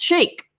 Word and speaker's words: Shaikh: Shaikh, let me know if I do. No message and no biggie. Okay, he's letting me know. But last name is pronounced Shake.